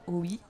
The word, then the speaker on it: Hauuy: Alors cet après-midi sont avec moi Nicolas Beuglet et Vincent Oui. Je le prononce bien ?